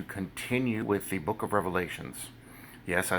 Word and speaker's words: Revelation: with the book of Revelations. Yes, I say Revelations because it is multiple revelations, but be that as it may. I say that because somebody got mad. It's Revelation, not Revelations. There's no S.